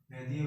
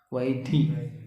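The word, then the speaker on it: वैधी: Vaidya bhakti and jagana bhakti. Vaidhi nahi, Vaidhi, Vaidhi, Vaidhi, based on vidhi, rules and regulations, do's and don'ts, not Vaidhi.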